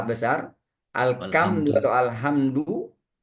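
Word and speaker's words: الحمد: Tapi kalau berubah menjadi ka alkamdu ah atau alhamdu h besar kita istilahkan biasanya ha besar. Alkamdu atau alhamdu e kemudian di ainnya menjadi hamzah.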